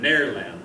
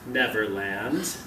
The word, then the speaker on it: Nairland: No one had ever set foot on Nairland, I knew. Originally pronounced Neverland. I was right. You're so smart, yeah. Then Nairland, the name had eventually come to be spelt as it sounded.